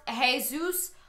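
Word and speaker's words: Jesús: too um excuse me it's pronounced jesus it's spanish imagine being the teacher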